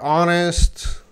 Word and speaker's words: honest: These words, hour, honest, honor, they all have the silent H.